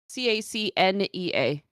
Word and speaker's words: Cacnea: No, because it's Cacnea.